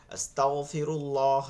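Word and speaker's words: أستغفر الله: বলতেছি, এর কারণ আছে, অনেকের ভুল আছে, যেমন আস্তাগফিরুল্লাহি রব্বি এরকম অনেক ভুল আছে, আস্তাগফিরিল্লাহ এরকম অনেকে উচ্চারণ করতেছেন।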